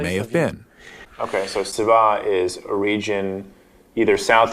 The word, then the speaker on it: Seba: related that has just a different S sound, Seba.